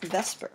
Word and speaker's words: VSEPR: It's based on this theory known as Vesper. We call it Vesper even though it's spelled a little differently.